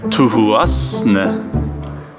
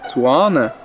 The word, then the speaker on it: Thuasne: C'est Tuan. Tuan. Tuan. Wings for your health. Tuasne. Nein, man sage das Tuane. Non. Soir? Non, c'est Tuan. Tuan.